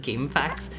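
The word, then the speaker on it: GameFAQs: Let me uh I've always said game facts. See, I've heard a lot of people say that, too. I have always It's a bit of a It's a bit of a mouthful. I have always referred to it as game FAQs.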